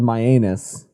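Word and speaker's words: Mianus: a uh in connecticut i believe it's called myanus m-i-a-n-u-s myanus or myanus but that is how it is spelled and that is legit so we have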